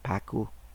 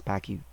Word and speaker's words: PACU: the post anesthesia care unit or paku some people pronounce it as pacu then there is assessment